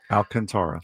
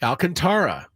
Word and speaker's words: Alcantara: According to David Shfeld, Sandy Alcantara, and we did look this up. That is correct. Alcantara. Alcantara. People mispronounce it like me all the time.